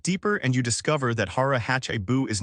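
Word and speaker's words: hara hachi bunme: This brings us to another powerful concept called Hara Hachibunme, pronounced Hara Hachibunme.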